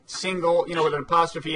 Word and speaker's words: Singal: TV you are Jesse single you pronounce it like like singles bar I do yeah we